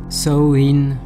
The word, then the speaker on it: Samhain: donc dans cette vidéo pour la prononciation revenant le plus souvent sur Internet sowin une chose est certaine ne le prononcer surtout pas comme le docteur loumis dans Halloween 2 Anne est riche en